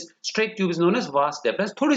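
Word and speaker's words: vas deferens: अब इसमें डिफरेंस में देखो, पूरी स्पेलिंग में डिफरेंस नहीं बोलेंगे, वास डिफरेंस बोलेंगे इसको। आई पूरी स्पेलिंग में नहीं है, एक एक छोड़ के एक एक बार ई है। देखो DEFERENS, स्पेलिंग पे गड़बड़ नहीं करना है, वास डिफरेंस।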